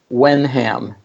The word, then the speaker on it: Wenham: that's Wenham.